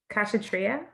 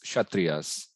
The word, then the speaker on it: Kshatriya: Brahmin, uh, Kashatria. Yeah, it's all starts with K, but it's Kshatriyas. Okay, thank They you. leave the K out of that.